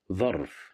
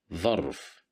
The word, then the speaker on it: ظرف: ظرف, ظرف, ظرف, which means an envelope. Here we have the letter dha with fatha right above it. So we will pronounce it as dha, ظرف.